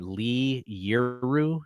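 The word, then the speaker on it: Li Yueru: Lee Yuru. Lee. Yeah, that you pronounced it right the first time.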